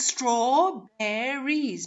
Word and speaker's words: strawberries: god what happened here so the spelling is strawberries but how many syllables do we hear we only hear two syllables strawberries strawberries strawberries and